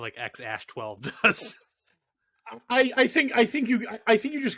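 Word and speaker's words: X Æ A-Xii: name to figure out how the fuck to pronounce it. It is XAsh12.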